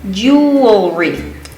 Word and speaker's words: jewelry: It's jewelry. So 3 syllables again.